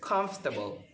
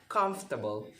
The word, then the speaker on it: comfortable: it is pronounced is comfortable omit the letters o and r so that you can pronounce it correctly as comfortable it's comfortable so it